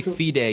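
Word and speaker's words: FIDE: the u.s and and when you say feed a you mean like f-i-d-e you pronounce it it's a little more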